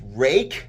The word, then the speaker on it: Ruike: It's one that's been around for a while, and that's going to be the, I believe it's Rake, how you pronounce this, R-U-I-K-E, P661, G10 and 14C28N for, get ready, $28.